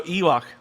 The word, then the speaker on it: Yhwach: But so Yhwach, so Car Wash.